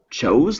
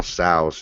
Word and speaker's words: Tso: Do you pronounce it chose like, or is that a different dish? I'd say General Tso's chicken. Yeah, that's how what I say. thought. I say Sows.